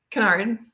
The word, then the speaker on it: Jasmine Kennard: Canard or kard how do you say it Canard Canard all right perfect I gotta write the